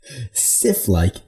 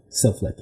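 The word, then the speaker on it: sylphlike: Silflick is how you pronounce it. Have you ever heard of it? No. I thought you said Sith-like.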